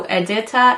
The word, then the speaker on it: Edita: Autumn and this is edita yes I Googled and listened to a bunch of different ways to say this that seems to be the accepted pronunciation so edita and autumn autumn obviously is